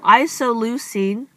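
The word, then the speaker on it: isoleucine: codon sequence and they put them together so isoline that's how you pronounce it isoline has a common uh beginning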